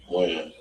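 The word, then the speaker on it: Wynn: Win.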